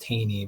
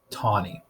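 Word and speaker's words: Taney: tawny it spells that you'd think it'd be pronounced tini but it is in fact pronounced tawny this is perhaps the most infamous Supreme Court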